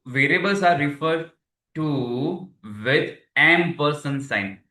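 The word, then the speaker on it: ampersand: So M person name okay M person it will pronounce like this spelling is like see A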